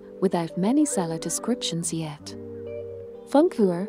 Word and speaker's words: Funkuhr: relatively new rose without many seller descriptions yet funk for pronounced is German for a radio clock that is